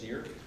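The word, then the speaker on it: Kneer: Dennis Neer, who, by the way, would like to come to a meeting sometime, so. That'd be awesome. N-E-A-R. K-N-E-E-R, sorry. Yeah. Sorry. E-E-A-R? K-N-E-E-R. E-E-R. Yeah. The K is silent.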